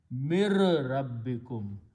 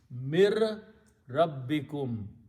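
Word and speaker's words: مِن رَبِّكُمْ: When you read these together, you do not pronounce separately, but you change mir rabbikum. So noon sound goes away, ra becomes twice, that's tajweed. Mir rabbikum.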